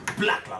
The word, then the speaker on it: Blaklaaa: So if you're proud to be black, then you have to say it with that energy. You get it. And Blaklaa is spelled B-L-A-K-L-A-A. You get Blaklaaa like that with energy.